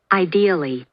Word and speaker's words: ideally: Ideally. Опа, и я не прав. Ударение на второй слог. Ideally. Ideally. Ideally. Ideally. Не You are a идили, person.